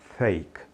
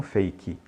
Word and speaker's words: fake: falso em inglês né It's fake fake não fake Ok você deve notar também